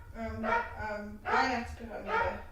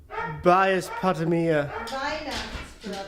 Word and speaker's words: Weihnachtspyramide: Weihnachtspyramide. Weihnachtspatamia.